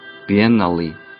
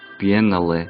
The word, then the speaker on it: biennale: 그 발음을 그대로 가지고 와서 biennale, biennale.